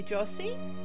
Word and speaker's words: Josie: And my name is actually Josie. It's pronounced with a J sound.